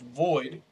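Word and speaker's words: VXIIID: voxid v x i i i d it's pronounced void uh the Roman numeral 13 is in honor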